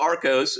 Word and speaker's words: Arcos: So Arcos, 2 syllables. You tell the world what it means. Ark as in Noah's Ark, let's say.